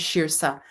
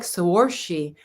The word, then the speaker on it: Shirsa: knew that i knew it was shirsa when you look at it though it looks like sorshi but i remember somebody